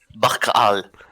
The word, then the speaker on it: Barkal: Alors, ça se prononce Barcal ou Barhal, du coup. Barkal.